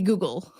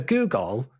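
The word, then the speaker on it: googol: terms of length that would be the the Google or the Google Plex or the Google Plex Plex you're starting to get really ridiculous when you're talking about the Google Plex FX as well so so a Google or Google because it spelled different ly to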